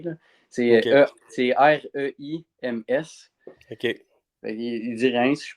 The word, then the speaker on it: Reims: ils disent d'une autre façon que de la façon que c'est écrit. Là. OK. C'est R-E-I-M-S.